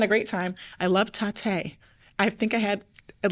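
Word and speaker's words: Tatte: I love tate. I think I had at least 8 of the desserts in Really? over 4 days. Tate. It's pronounced instead of latte, it's called tate.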